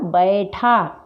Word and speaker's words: बैठा: शिरोरेख लगे हैं, लेकिन हम इसका उच्चारण करते समय हमेशा बे ही बोलते हैं, बै नहीं बोलते हैं। तो इसका शुद्ध उच्चारण क्या होगा? बैठा।